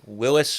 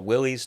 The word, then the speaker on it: Willys: Today's video um is uh we drag out a barnfine 1950 Willis or Willies depending how you say it.